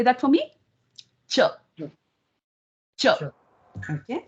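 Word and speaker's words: च: The word for and in Sanskrit is cha. Can you say that for me? Cha. Cha. Okay. Cha.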